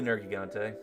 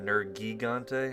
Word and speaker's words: Nergigante: But then when I heard them say in-game Nergigante, I'm like, I don't like that double hard G sound back to back. Nergigante, this doesn't roll off the tongue as well.